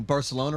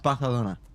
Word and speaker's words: Barcelona: don't think that's one both pronouncing Barcelona wrong it's Baja Luna five four never seen